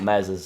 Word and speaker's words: Meslier: don't want to lose Mez silent s although my silent ass